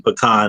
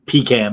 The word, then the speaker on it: pecan: And by the way, Jorge, thank you for saying it correctly and saying pecan and not pecan like others of us in the uh in the show.